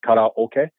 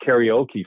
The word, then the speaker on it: karaoke: I correct them but it's like in karate karate yeah because that means empty okay is Orchestra so empty Orchestra karaoke oh that's how they pronounce it so it's not karaoke first of all and